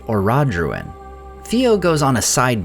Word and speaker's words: Orodruin: And I realized the reason I didn't catch this at first is because she pronounces it Orodruin.